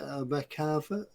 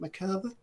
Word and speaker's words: Merkava: Bench, Hobby Boss 135 Merkava. Is that how you say it? Merkava?